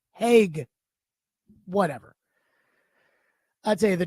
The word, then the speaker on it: Hague: Apparently, it's pronounced Nicholas H. No, excuse me, Heg.